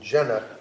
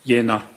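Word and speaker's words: Jena: Kupka who is the managing director of Aera Medicals A V A T E R A medical in Jenna J E N A German yeah it's pronounced Yenna Jenna okay thank you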